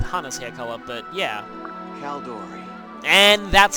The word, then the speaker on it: Caeldori: the uh with hana's hair color but yeah calor and that's how you pronounce the name which is yeah I I